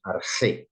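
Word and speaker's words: ἀρχῇ: leemos arge miren que el espíritu es suave por lo tanto no se pronuncia y e arge arge con una jota profunda Entonces vamos a a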